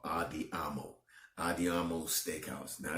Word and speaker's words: Andiamo: It's called Andiamo.